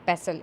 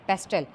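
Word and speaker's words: pestle: यहाँ पे हमारे पास टी जो है वो साइलेंट हो जाएगा, इसको बोलेंगे पेसल। इट्स नॉट ए पेस्टल, इट्स अ पेसल।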